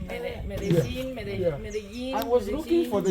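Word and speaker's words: Medellín: This is how you write Medellin. Yeah. But in so Kenya, this is, you see, this I already told you. LLI is G.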